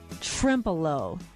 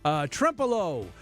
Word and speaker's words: Trempealeau: Trempolo. I am glad Miss Pronouncer said that name. Trempolo.